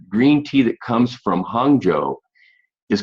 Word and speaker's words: Hangzhou: That's pronounced Hangzhou.